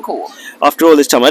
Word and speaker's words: Khaw: Khaw, how do you say it? Core. Khaw. Core.